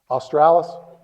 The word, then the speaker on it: australis: Does anybody know how to pronounce that word? Australis?